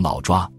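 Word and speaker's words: 老挝: 而且在早期，老挝的窝字在中文里只有一个读音，就是抓，所以即使译名是老挝，其实当时的读音会读成老抓。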